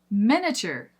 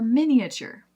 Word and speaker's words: miniature: Miniature or miniature. Many ensure miniature horses are adorable. But we can say miniature horses are adorable. This one also mostly comes down to accent, but I hear both. Even here in the American South, I hear both of them. So if we're going to go for a true Southern accent or one of the Southern accents, it's going to be miniature.